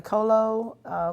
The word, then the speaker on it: COLO: You started the COLO. Is it COLO? Is that how you pronounce it? Yes, ma'am. COLO.